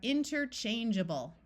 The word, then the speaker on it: interchangeable: clear long a sound but suffixes in English are rarely accented and they tend to have vowel sound schah so this a will take on a short U or a short I sound so we have interchangeable let's look at our